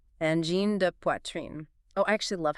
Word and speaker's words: Angine de Poitrine: N Gène de Quartier. N Gène de Quartier.